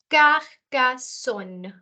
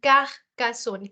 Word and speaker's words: Carcassonne: It is Carcassonne. I'm pronouncing the R in a different manner. It comes from the throat. It's like I'm scratching my throat saying Carcassonne, Carcassonne.